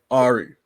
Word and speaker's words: Arie: little background of who arie is well just like you and everyone else everyone pronounces my first name wrong too ari oh it's ari i've been doing this